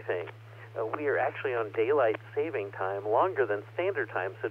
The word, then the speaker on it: daylight saving time: to daylight saving time yes it is written and pronounced daylight saving time not daylight savings time tonight in just a